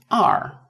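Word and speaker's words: 二: And for number two so is R R. So for this R you read it as this one. I've already given you the trick. So read it as the letter R. Just R.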